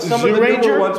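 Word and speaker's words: Zyuranger: Plus people on the comments are saying that Zoo Ranger is pronounced with a J instead of a Z.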